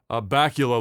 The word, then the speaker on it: Bakula: to pronounce his name his last name uh bakula like it's count chocula uh scott bakula says